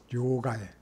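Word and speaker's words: 両替: 혼다나 이런 것도 하고 그 다음에 이 돈 바꾸는 거를 료가이라고 합니다. 료가이 료가에 료가에 이런 것도 우리가 료가에 이렇게 합니다.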